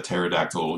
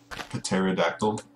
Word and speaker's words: pterodactyl: can't you hear a pterodactyl going to the bathroom because the p is silent get it pterodactyl the p is silent can't he okay see